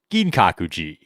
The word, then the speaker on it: Ginkakuji: So, now we're going to visit Gin Kakuji.